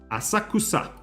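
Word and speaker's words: 浅草: double sa asakusa Asaka asakusa Asaka asakusa you see the pronunciation here it's the U in asakusa it's very you almost can hear it because of course there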